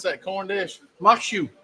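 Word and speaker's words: maque choux: How you pronounce that corn dish? Makshu. Makshu.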